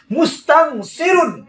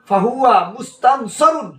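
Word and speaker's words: مُسْتَنْصِرٌ: অনেকেই পড়ার সময় পড়ে এইভাবে ফাহুয়া মুস্তানসিরু, ফাহুয়া মুস্তানসিরু, এক পেজ দিয়া পড়ে, দেখা যায় দুই পেজ, কিন্তু উচ্চারণ করলে কানের কাছে গেলে অনেক সময়, আপনার মুখের কাছে গেলে অনেক সময় শোনা যায় বলতাছে মুস্তানসিরু, এক পেজ পড়ে। আবার অনেকে পড়ে ফাহুয়া মুস্তানসরু, মুস্তানসরুন পড়ে না, মুস্তানসরু এরকম পড়ে।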